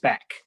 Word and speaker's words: SPAC: And that's what SPAC stands for, and pronounced SPAC.